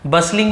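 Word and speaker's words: bustling: बसलिंग यहां पर भी देखिए, इसे बस्टलिंग नहीं पढ़ेंगे, बसलिंग पढ़ेंगे, टी साइलेंट होता है। बसलिंग का मतलब होता है हलचल।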